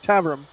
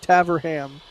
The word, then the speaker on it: Taverham: So my go-to is just smash all the letters together and sort of just run through it without really moving your mouth too much. Tavrum. Like, bam, done. If I was going to pronounce that like an American city or town name, I would say Taverham, but that's obviously wrong.